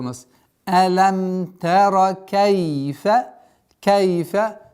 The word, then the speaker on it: كيف: Кайфа со звуком Кайфа, не кейфа, Кайфа.